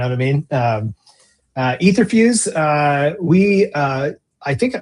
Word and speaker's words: Etherfuse: First, there's no right way to to pronounce Etherfuse. That's how I say it, but when I go to Mexico, everyone says etherfuse.